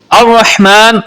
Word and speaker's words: الرحمن: بسم اللہ الرحمن الرحیم۔ الرحمن اور الرحیم، یہاں پر ہا استعمال ہو رہا ہے جو کہ حلق کے درمیان والے حصے سے ادا ہوتا ہے۔ ہا اور دو چشمی